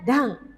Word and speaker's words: 段: Jadi ini dibacanya dang.